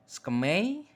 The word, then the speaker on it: SKMEI: tangan keluaran dari skmei skmei bacanya skemai skmei Mungkin ada yang